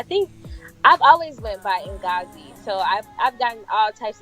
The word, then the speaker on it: Ngozi: grew up here in Italy and Italians can mispronounce African names like you know so I think I've always went by in gauzy so I've done all types of crazy things